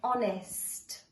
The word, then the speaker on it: honest: the word of like Peter right now is honest honest it is good to be honest honest